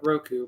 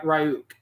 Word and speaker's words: Ryuk: R Ru sorry I think I called it Roku but it's it's R ryuk is how it's pronounced as seen in the picture is a